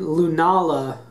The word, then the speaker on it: Lunala: Uh, so we got Sgalio for our Sunstarter and Lunala with a long a in there.